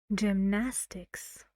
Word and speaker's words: gymnastics: ly quick ly two gymnastics gymnastics how many syllables gymnastics well the word is very big so what do you think three and where's the stress gymnastics Nas yeah this part there it goes Cinema here